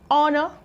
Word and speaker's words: honor: We have an honor. This is honor, not honor.